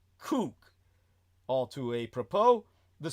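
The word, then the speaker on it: Kook: That's a surname pronounced K O K Cook all to a propo the spiritual leader of the settlers in Gaza and the West Bank.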